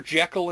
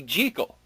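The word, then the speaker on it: Jekyll: Oh, Dr. Jackekal and Mr. Hyde. Yeah. It's supposed to be Jal. Really? The guy who wrote the book says so.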